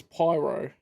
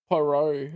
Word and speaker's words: Poirot: Or if you want to anglicize it, like Chief Inspector Japp, it's Pyro, not Poirot or whatever he was saying.